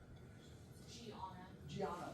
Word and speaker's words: Gianna: Gianna, am I saying that right? Gianna, that's how she pronounces her name too.